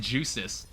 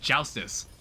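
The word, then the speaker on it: Joustus: in the day and I kept calling it juicis and it took like it was like weeks after I played it and then my friend Alexis was like, "Danny, it's pronounced joustice."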